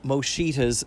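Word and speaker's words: Musciotta: to correct is that I did pronounce John Mosha's name incorrectly. I don't know why I was saying Moshida. I guess I had on the brain clearly literally. Uh but uh yeah by even by Italian pronunciation it would be Mosha.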